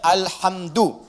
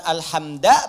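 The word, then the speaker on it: الحمدُ: Dibacaannya alhamdu, bukan alhamda pakai fathah atau alhamdi pakai kasrah. Ya, apa bacanya? Du, alhamdu pakai dhammah. Jadi kalau dibaca dalam salat jangan baca menggunakan fathah alhamda atau kasrah alhamdi, tidak.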